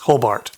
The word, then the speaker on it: Hobart: cult IB it's an independent botler based in hobbert or Hobart I don't know how they would pronounce that yes Hobart Hobart and then finally old Kempton out of